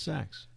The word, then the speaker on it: Saxe: How could you mispronounce Saxe? Well, sometimes people they think that the E is long, so it's Saxe or it's Saxe, Saxe. or so.